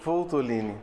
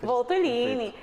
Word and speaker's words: Voltolini: Rafael, me ajuda a pronunciar o seu sobrenome. É Voltolini? Voltolini. Voltolini.